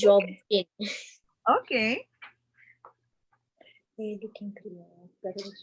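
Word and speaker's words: Jobim: I don't know how to pronounce that. It's Jobing.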